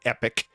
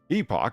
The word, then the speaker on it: epoch: happening during the earliest Epoch not epic you twits Epoch of our solar system people go around pronouncing that as Epic and it